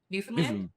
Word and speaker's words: Newfoundland: what I would say Newfoundland, but you seem to make it into one syllable somehow. New land.